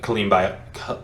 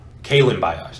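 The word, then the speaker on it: Kalen Ballage: him you just have jalen samuels and uh colleen by i can never say his name correctly pauline uh kailyn bios there it is sorry he uh gunner for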